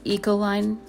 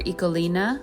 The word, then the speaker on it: Ecoline: These Ecoline or Ecolina, I've heard them pronounced both ways.